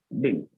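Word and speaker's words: didn't: इसीलिए मैं आपको बताता हूँ, आज के बाद डिडन नहीं हमको बोलना है। आज के बाद बोलेंगे डा में छोटी की मात्रा डी और ना डिन। क्या बोलेंगे इसको? डिन।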